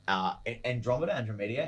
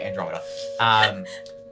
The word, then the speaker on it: Andromeda: the Skypin, the Lieutenant Andromedia. How do you say it? Sorry, is it Andromeda? Yes. Yeah, Andromeda.